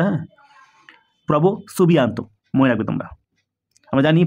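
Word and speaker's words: Prabowo Subianto: হিসেবে থাকছেন আমাদের ইন্দোনেশিয়ার ইন্দোনেশিয়ার রাষ্ট্রপতি নাম কি প্রভো সুবিয়ান্ত এই ধরনের উচ্চারণটা হবে প্রোনাউন্সিয়েশনটা হ্যাঁ প্রভো সুবিয়ান্ত মনে রাখবে তোমরা আমরা জানি প্রজাতন্ত্র দিবস কবে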